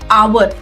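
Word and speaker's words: hour: क्योंकि H silent है तो ऑटोमेटिकली उसकी साउंड हो जाती है आ।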